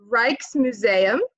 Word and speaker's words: Rijksmuseum: We will see, I looked this up, it is called the Rijksmuseum. I was unsure about this pronunciation because I don't speak Dutch, but that's apparently how it's pronounced.